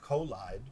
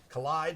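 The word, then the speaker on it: Kolide: contacts out collide which I always want to pronounce kool ID because they spell it Kol IDE but collide has their new MDM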